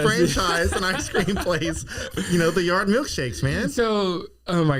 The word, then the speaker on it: Theyard: So it's Theyard, but like most people read it and they're like, oh, The-Yard. And I'm like, oh no, it's Theyard.